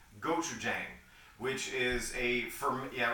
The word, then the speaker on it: gochujang: The dipping sauce, the samjung, is comprised primarily of a Korean condiment called gochujang, which is yeah, right. I saw your eyebrows. Yeah, I was like, whoa, nice pronunciation.